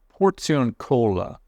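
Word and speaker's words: Porziuncola: Saint Francis favorite Chapel the portion Cola I think is how you pronounce it if you're Italian and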